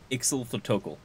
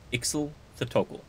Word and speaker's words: Ixothotokel: Most honorable Ixothotokel, at your command. Okay, so that's how you pronounce it. Ixothotokel. Ixothotokel.